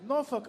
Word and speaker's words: Norfolk: somewhere in there and it gets a little bit shortened so we pronounce it noruk Island I hope that's correct